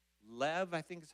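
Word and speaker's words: לב: And in the Hebrew word for heart, it's lev, I think is how you pronounce it, L-E-V.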